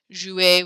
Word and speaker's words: jouer: Jouer, we don't pronounce the R.